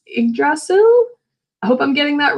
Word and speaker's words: Yggdrasil: And in the midst of that, Odin accomplishes one of his goals, which is regrowing the world tree, which I believe is pronounced Yggdrasil.